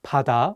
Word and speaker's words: 바다: Let's do another example with the word 바다, which means sea. The pronunciation of 비읍 in this word is different than the one in 가방. In this case, the 비읍 is pronounced more like 피읍.